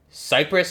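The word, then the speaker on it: Kiparis: through presence so this is the ots 2 cypress is how it's pronounced or the caprice i guess you could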